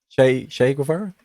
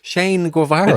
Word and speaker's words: Shane Guevara: Che Guevara? Is it Che Guevara? Shane Guevara.